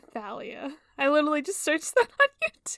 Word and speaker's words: Thalia: I've only ever heard people say it Talia because I pronounce it like the river temps with the th okay Rick R Rick Ry saying Thalia I literally just searched